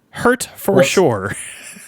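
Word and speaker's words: Hertfordshire: H E R T F O R D S H I R E. Hurture. hurt for sure.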